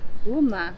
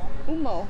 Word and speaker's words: Humo: You don't pronounce the H. It's silent. Uma. Okay. Umo.